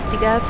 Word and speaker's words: Degas: Degas rhymes with Las Vegas.